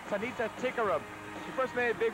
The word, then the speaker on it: Tanita Tikaram: The pronunciation of her name even gives the British a run for her name. It's Tanita Tikaram.